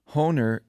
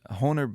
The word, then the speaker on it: Hohner: I tried this one, which Hohner, I think is how you pronounce it, Hohner Blues Bender harmonica, which seemed reasonably well reviewed.